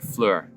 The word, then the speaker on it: Fleur: This is from Bohemian Reeves, and it's called Desert Fleur, or Flower, but it's pronounced Fleur, I believe.